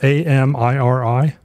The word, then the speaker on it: Amiri: Yeah, it's A-M-I-R-I. It's spelled so, Amari. Yeah, well, Amiri.